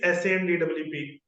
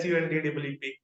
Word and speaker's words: Sundeep: is s pronounce so people used to say it is s DWP whereas in fact it is Su DWP and why it has